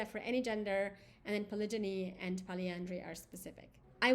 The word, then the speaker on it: polygyny: Polygyny, and I've also heard it pronounced polygyny, but polygyny is the practice of having multiple wives, and polyandry is a form of polygamy.